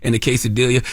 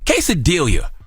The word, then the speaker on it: quesadilla: silent letters lasagna okay quesadilla quesadilla why have two L's if you're not going to use them that makes no sense